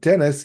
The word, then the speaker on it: Denis: Denise, It is pronounced Dennis. They say Dennis on the show.